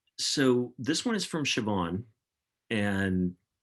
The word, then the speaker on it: Siobhan: Um, so this one is from Siobhan, and her name is not pronounced like it's spelled, and I deserve points for getting that right.